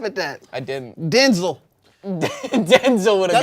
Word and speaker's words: Denzel: Denzel would have That's got actually how you're supposed to say his name. Really? Yeah, I just watched the interview recently. It was You like, said everybody's Denzel? pronouncing my name wrong.